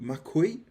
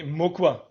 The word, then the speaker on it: Mauquoi: Well, I'm going to do my absolute best here, but is it pronounced Mauquoi? Nee, Mukwa. Mukwa. Mukwa.